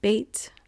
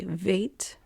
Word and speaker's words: Bet: Olive would be first and then bait and sometimes they say vate and then giml and